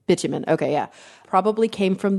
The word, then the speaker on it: bitumen: I think it's pronounced bitumen, yeah. Bitumen, okay, yeah.